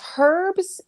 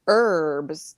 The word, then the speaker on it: herbs: of is it herbs it's herbs in if you're in like the UK okay and it's herbs if you're in the United States February Harry say it